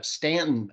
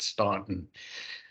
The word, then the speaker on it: Staunton: Barton and it and it's uh Stanton Augusta Waynesboro and that's how we know you're not from our area is uh if you pronounce it Staunton um it's really a